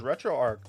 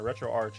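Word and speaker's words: RetroArch: other stuff now there's retro Arc apparently is on there retro Arch however you want to pronounce it I think it's Arch retro Arch is now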